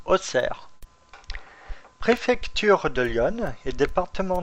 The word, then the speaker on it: Auxerre: Auxerre s'écrit Auxerre et se prononce Auxerre.